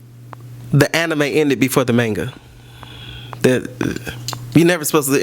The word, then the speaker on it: manga: chick up for Disney so if you think of that Boy Meets World Topanga it is manga it's manga but he